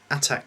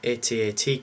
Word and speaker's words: AT-AT: collection this time around it's the attack Commander or atat Commander depending on how you want to pronounce it um this is like